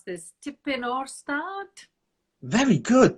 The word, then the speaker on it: Tipyn o'r Stad: And then you followed that up with, now tell us how to pronounce this, Tipyn o'r Stad. Very good. Tipyn o'r Stad.